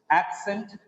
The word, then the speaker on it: accent: Look at the same, take the same example here. Accent, A-C-C-E-T. See, that is why the sound for second C is S, accent. Okay, right. Accent, accented. The stress is on second syllable.